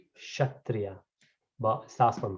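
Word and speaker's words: Kshatriya: actually it is actually this k is silent so we call shatriya but starts from k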